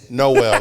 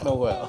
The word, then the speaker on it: Nowell: Yeah, it's Nowell, like the first Noel. Nowell.